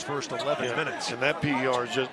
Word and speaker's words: PER: And that PER is just that's pronounced per, as in per game.